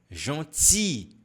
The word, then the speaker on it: gentil: Olha aqui, c'est très gentil, merci. E aqui a gente não pronuncia o L, tá?